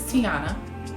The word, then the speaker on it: Tiana: So my name is Tiana. That's how you say it. It is not Tiona. It is not Tiana. It is Tiana.